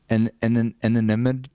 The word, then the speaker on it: inimitable: Inimitable. Inimitable. So imitable. Imitable. Imitable. Inimitable. Inimitable. Is that right? No, inimitable. You're putting the emphasis on the wrong syllable.